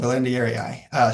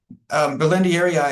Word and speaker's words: berlandieri: I think that's how you pronounce it as well, Belendieri.